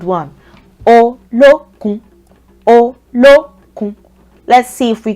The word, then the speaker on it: Olokun: Olokun. This is a 3-syllabled one. Olokun.